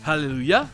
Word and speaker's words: hallelujah: Et enfin, dans des mots originaires d'autres pays, ça peut être le son ye, comme dans le fameux Hallelujah, qui vient de l'hébreu, ou dans le mot norvégien fjord.